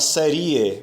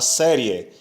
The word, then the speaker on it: série: Observe que você não fala serie, você fala série. Se você falasse serie, você separaria se, seria uma sílaba, ri, Nós teríamos três sílabas. No entanto, a palavra só tem duas sílabas, série.